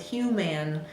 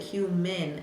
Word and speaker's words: human: little off for example in the word human when decoding it the student might come up with human but we really pronounce it human I the a saying I no big deal again